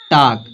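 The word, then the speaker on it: talk: Silent होगा। तो यहां पे एग्जांपल दिया है। यहां दिया है टाक।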